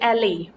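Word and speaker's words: aisle: side walk next is एल इसमें जो वाई है इसको वाई की तरह प्रोनाउंस हम नहीं करेंगे इसको एल कहा जाएगा और एल एक तंग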